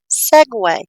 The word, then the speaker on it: segue: Because no one had checked out the actual pronunciation, which is segue.